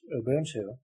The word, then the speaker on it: Ubuntu: Ubuntu, pronounced Ubuntu, is a sub-Saharan African ethic or ideology focusing on people's allegiances and relations with each other.